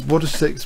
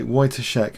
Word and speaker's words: Wojtaszek: Sorry, is Wojcik pronounced like Wojtaszek? Okay, Wojtaszek. Okay, that sounds better, doesn't it? Wojtaszek. Okay, thank you. Cook calls or log. Yeah, Wojtaszek apparently.